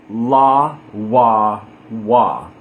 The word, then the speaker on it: לוו: Lamed is pronounced la because the ah in the word lamed, la. The vavs we're going to pronounce like Sephardic wa. And in the word vav, there's a ah, vav. So la, wa, wa.